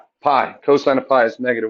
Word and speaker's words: pi: s is negtive 1 it rhymes with Guy starts with p Pi cosine of pi is